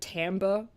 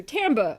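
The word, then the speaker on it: timbre: know what the word Tambor means in a in sort of the music context or Tambe it's a French word it looks like timber but it's pronounced Tambe I hate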